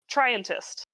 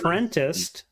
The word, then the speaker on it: Trientist: Trientist. It rhymes with scientist. Okay. I It's thought it was fun. Trentist, and I thought it